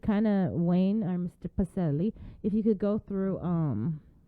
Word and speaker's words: Pacelle: Is it Pacelle or Pacelle? Just want to make sure I get that right. Pacelle. You got it right the first time.